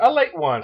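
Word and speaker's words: Ale-8-One: With some L81, they pronounce it a late one. So how about that? A late one. It's a late one, baby.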